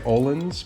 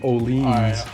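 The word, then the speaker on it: Öhlins: don't like it yeah most people say olins but it's actually olean if you if you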